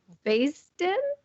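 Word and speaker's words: Baysden: en how do you say her last name Basden Basin congratulations and we will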